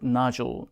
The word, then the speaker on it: nodule: I have a vocal cord nodule. 역시 발음 jewel 표현 잊지 마시고요.